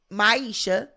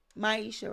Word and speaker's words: Maisha: NDA when you asked Misha if she was is that her name Misha isn't that the name Maisha right want to make sure I'm saying it right yeah when you ask